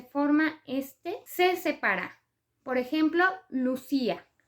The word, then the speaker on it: Lucía: Por ejemplo, Lucía. Lucía lleva acento prosódico en la I y por lo tanto rompe el diptongo y genera un hiato. Entonces queda una palabra de 3 sílabas. Lu-ci-a.